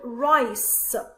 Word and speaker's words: rice: Now why do I say the S and not K? Because I have letter C, next to it I have letter E, so that's why I say it pronounced as S and not K. So this one is rice, R-I-S, rice.